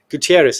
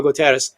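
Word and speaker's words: Guterres: UN Secretary General Antonio Gutierrez, how do you pronounce that? Gutierrez is it? Yeah, sure. Yeah, sure. No, say Komo Kos pronounce it right. Antonio Gutteras.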